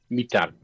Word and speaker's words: Mitar: Letters are normal. Just R is like R, always. So, Mitar. Oh. Okay. Victor? Roll the R. Mitar.